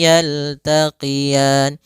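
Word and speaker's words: يَلْتَقِيَانِ: Maka marajal bahraini, marajal bahraini yaltaqiyan. Kemudian pelafal ra ini di sini ada bacaan lin, yaitu adanya fathah bertemu dengan ya sukun, lembut dalam pelafalannya.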